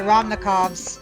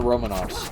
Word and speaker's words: Romanov: the way of the ramnikovs efficient but also boring that's true I think she met the romanovs oh the Romanov yeah got it yeah yes I mispronounced it nope not a problem